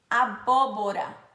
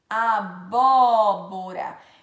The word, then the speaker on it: abóbora: por exemplo nós temos o acento agudo o agudo é uma cento aberto ele faz com que o som fica aberto por exemplo abóbora abóbora então ele quando você